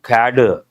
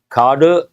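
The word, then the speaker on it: cadre: Usually people say cader. Carter uh standard pronunciation you can say cader also police cader depends cader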